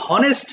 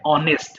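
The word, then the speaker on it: honest: আর এটা হনেস্ট হবে না, এটা হবে অনেস্ট মানে সৎ।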